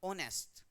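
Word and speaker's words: honest: जैसे हम इसको प्रोनाउंस करें ओनेस्ट को, तो इसको प्रोनाउंस करते हैं तो एच इसमें साइलेंट रहता है, इसको प्रोनाउंस क्या करते हैं, ओनेस्ट, क्या बोलते हैं इसको,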